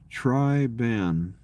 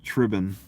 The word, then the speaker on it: Triban: I figure it's pronounced Triban. Yes, Zap. Triban. Mike Triban. Okay, not Tribban.